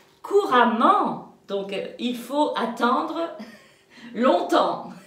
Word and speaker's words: longtemps: Pour parler français couramment, donc il faut attendre longtemps. Et longtemps, ça s'écrit EMPS. Longtemps.